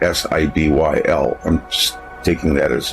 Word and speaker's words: Sibyl: The Sibyl told as follows: the 9 suns are 9 ages.